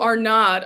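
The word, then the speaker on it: Arnaud's: Oh, our nod. Okay. The S is silent. Unless it's not French.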